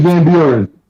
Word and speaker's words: Van Buren: Steve Van Buren.